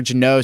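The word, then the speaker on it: Jeannot: Jano? Is it literally Jano? Okay, that's what I thought it was. Yeah. I was like, oh. Next one I got here. Tanner Jano sent from Nashville to Tampa for a boatload of picks.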